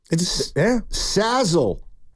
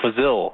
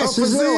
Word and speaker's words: Fazil: It's Fazil. Remember me? Oh, yeah. Fazil. How you doing? Rhymes with Brazil.